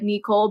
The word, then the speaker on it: Neecxle: Although that's not how it was supposed to be pronounced originally. It was just supposed to be like Neecxle, but like, of course,